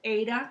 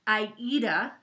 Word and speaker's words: Aida: So, remember how I was telling you I bought this cloth, and it's called Ada cloth, and I like it better than linen? Yeah. It's actually pronounced Aida, like the opera.